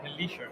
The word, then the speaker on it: Hilecher: I am joined today by Jerry, and I'm sorry if I get your last name wrong, Hilecher, correct?